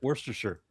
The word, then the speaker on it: Worcestershire: Worcestershire sauce? Worcestershire. 3 syllables.